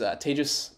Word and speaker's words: Tejas: hi my name is tejas that's pronounced like advantageous so whether or not